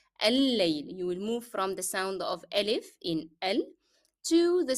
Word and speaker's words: الليل: So here, if you want to drop the pronunciation of lamb that is found in the definite article L, then you pronounce again 2 lambs because they are found under shadda. So it will be al-layl.